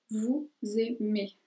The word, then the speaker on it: vous aimez: la otra palabra, pero en este caso vamos a pronunciar la S al final y sería vous aimez.